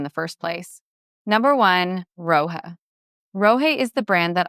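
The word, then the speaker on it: Rohe: The name is pronounced to rhyme with way, and once you encounter the fabric quality in person, the name becomes impossible to forget. Rohi works almost exclusively with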